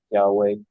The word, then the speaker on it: Yahweh: Posiblemente ustedes han oído ese nombre, Yahweh. Eso es lo que es más probable.